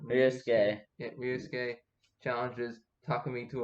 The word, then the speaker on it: Ryosuke: Ryosuke.